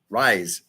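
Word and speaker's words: Ries: I believe it's yeah it's it's rise Eric rise is how you pronounce his last name writes a pivot is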